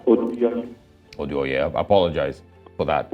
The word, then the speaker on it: Oduyoye: Okay, sorry, is pronounced Oduyoye.